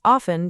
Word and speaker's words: often: And I often drink coffee in the morning. Perfect. Also, listeners, listen to the pronunciation of often. The letter T is silent. You do not say often, you say often.